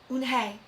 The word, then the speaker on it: Unhei: Yes, it's pronounced Unhei, and it means grace, Mr.